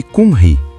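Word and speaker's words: Cymry: O nome para o povo galês em sua própria língua, é Kim Ri. Pronuncia-se Kunri.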